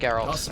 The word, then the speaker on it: Geralt: It's actually pronounced Geralt.